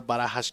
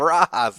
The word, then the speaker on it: Barajas: Barajas Jr. That's right. That's how you say it. You want to try it? Want to try it with me? Barajas. Barajas. Yes. Try it. Barajas. All right, there you go.